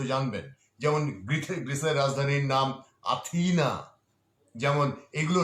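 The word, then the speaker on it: Αθήνα: যেমন জার্মান চ্যান্সেলরের নাম আঙ্গেলা মেয়ারকেল, উচ্চারণটা ঠিক মতো জানবেন। যেমন গ্রিসের রাজধানীর নাম আথিনা।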